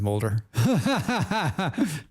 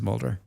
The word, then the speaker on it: Mulder: His name is Molder. His name is Mulder.